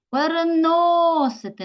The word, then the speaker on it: переносити: носити Отже 5 складів поставили наголос покликали слово переносити на голос падає на третій склад на голосний о записуємо поруч біля слова